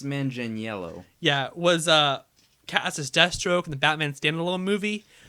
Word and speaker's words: Manganiello: Next on the list is Joe, really hard to pronounce Italian last name. I think it's Manganiello.